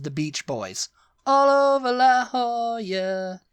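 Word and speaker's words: La Jolla: Beach Boys all over La Hoya La Hoya yeah it would really be La yeah l in Spanish is y it's a y sound so la Hoya yeah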